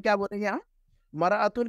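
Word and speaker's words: مرآة: हटा दें अल को हटा दें तो हम मरतुन नहीं पढ़ेंगे इमरातन पढ़ेंगे इमरातुन पढ़ेंगे समझ में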